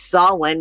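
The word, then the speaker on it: Samhain: do not know what saw one is that would be Halloween it's just some people pronounce it as someone because they're more with the ancient terms anyway so you have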